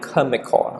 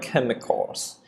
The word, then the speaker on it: chemical: Okay, the other word we pronounce it chemical.